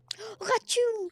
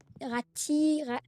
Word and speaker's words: Ratu: Ratu en fait en fait tout le monde le prononce mal à les personnes qui disent rate rat rati bref en fait ça se prononce ratu.